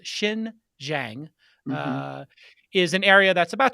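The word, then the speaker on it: Xinjiang: do we pronounce this is it shin zhang jinjing so x is pronounced with an s shin zhang is an area that's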